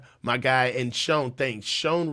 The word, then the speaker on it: Shan: guy and Shan thanks Shan rhymes with uh Grant Co with John coach just L Sean yeah